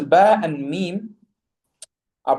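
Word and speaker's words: م: And then the letter mim, again, same thing, closing the two lips. And im. Again, the letter mim is by closing the two lips, okay, just bringing them together, okay, sealing them shut. And mim is and im.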